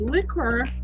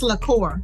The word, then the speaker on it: liqueur: of the new Citrus liquor am I pronouncing it right because it spelled a little unique it's liqueur liqueur brand okay so tell